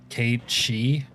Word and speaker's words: Cait Sith: And you're saying that Cait Sith is supposed to be pronounced Cait She?